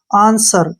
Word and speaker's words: answer: ठीक है, तो यहाँ पर हम W का उच्चारण नहीं करेंगे।